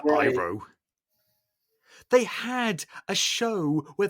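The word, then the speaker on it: Iroh: mean it meant nothing they pronounced his name wrong as well eero as opposed to iro they had a show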